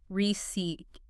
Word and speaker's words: receipt: Two syllables. Stress on the second. receipt and that P